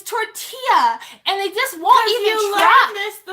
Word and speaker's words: tortilla: class won't roll their arse and it's not torte ela its tortilla and they just want you to promise the